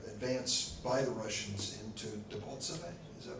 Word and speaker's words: Debaltseve: than there was advance by the Russians into Debaltseve. Is that right? Am I pronouncing it correctly?